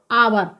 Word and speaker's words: hour: क्या होगा, आब होगा, क्योंकि H इसमें साइलेंट है, इसलिए इसका उच्चारण क्या होगा, आवर।